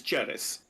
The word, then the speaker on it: Ceres: It would be pronounced in ecclesiastical Latin as Ceres.